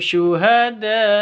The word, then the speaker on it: Syuhada: dengung waattakhidza minkum Syuhada ini awalnya bacaan ee mad wajib karena ada layar bertemu dengan Hamzah di satu kata wajib baca 5 sampai 6 ketuk atau en harakat